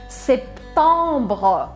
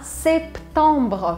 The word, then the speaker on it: septembre: Septembre, septembre. Pronuncie, por favor, esse P aqui no meio, tá? Septembre, septembre.